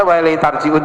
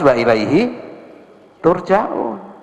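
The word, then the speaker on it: وإليه ترجعون: Dibaca wa ilaihi tarji'un juga benar secara nahwu, secara sorof. Dibaca wa ilaihi turja'un juga benar, gitu. Tapi riwayat dari Rasulullah cuma satu. Ayat itu bacanya harus wa ilaihi turja'un.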